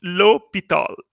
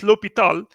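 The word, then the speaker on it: L'Hôpital: written like this but it is pronounced lope it all just like forma was pronounced it was written if if a or m80 but was called Fermat's theorem Verma's a Frenchman so here l'hopital's so we pronounced Lobethal so we will apply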